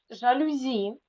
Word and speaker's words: жалюзі: у слові так перше жалюзі наголос на останній склад чіткий наголос на ий